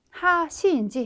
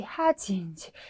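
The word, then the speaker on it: 恥: 그래서 우리가 치자는 발음을 하시인지 하지인지 굉장히 헷갈리게 해놨잖아요. 네, 발음은 하지로 읽어주시면 되겠네요.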